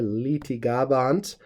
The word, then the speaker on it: litigabant: want to note that this first syllable is long here litigabant Ergo yudai the Jews